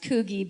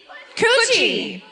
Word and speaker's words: Coogee: A fisherman hooks a small shark off of what I'm imagining to be pronounced Coogee Beach. No? Yeah? By the laughter, I'm gonna guess no. Coochie. Coochie Beach? Coochie. Oh, I see.